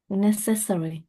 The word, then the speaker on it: necessary: necessary No, necessary is the the first syllable, not the second syllable, that is stressed.